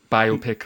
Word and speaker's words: biopic: So, usage notes, most American and British dictionaries give only the pronunciation with the first syllable stressed and the long O. So, the biopic.